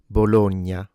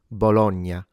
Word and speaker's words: Bologna: open and closed vowels, note that these vowels are closed in standard. Bologna. However, there are native Italian speakers that do pronounce it with open vowels, Bologna.